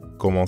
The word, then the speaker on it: comment: Comment ça va? Let's break it down. The first word, comment, means how. Comment. Comment. Comment ends in the nasal sound, en.